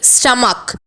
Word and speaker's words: stomach: This word ends with the letter CH but the pronunciation is K, stomach.